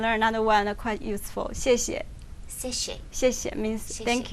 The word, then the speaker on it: 谢谢: in Chinese it begins with the X. Oh, X. But you can spell it like SH. It's kind of like she.